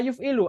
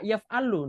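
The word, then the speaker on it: يُفْعِلُ: Contohnya af'ala yuf'ilu, antum bacanya af'ala yaf'alu. Nah, ini nanti salah makna ya, nggak bisa. Af'ala harus yuf'ilu. Af'ala yuf'ilu.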